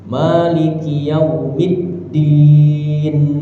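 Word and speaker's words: مالك يوم الدين: Maliki yaumiddin. Maiki yaumiddin. Dannya itu harus jelas. Da di ya maiki yaumiddin. Maliki yaumiddin.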